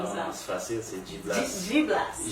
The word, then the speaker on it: G-Blast: On dit DJ Blaster. Dans le fond, c'est G-Blast. G-Blast? Ouais. Oh my god, Parce quel que- apprend un nom? Comment on Non, dit ça? c'est facile, c'est G-Blast.